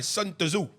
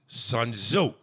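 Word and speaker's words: Sun Tzu: would say like when he mispronounced uh they're all sitting in the B bang talking he goes you got to read that book Art of War by suo and Sil gets mad and goes sunzo sunzo you know so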